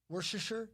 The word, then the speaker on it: Worcestershire: Worcestershire? Worcestershire. Worcestershire. Okay. Worcestershire.